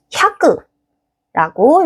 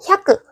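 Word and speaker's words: 百: 먼저 100에 해당하는 건 샤크라고 읽어줘요.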